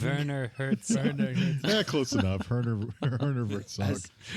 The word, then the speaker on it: Werner Herzog: if Herner Wertzog is available? Because man, that would be amazing. It's Werner Herzog.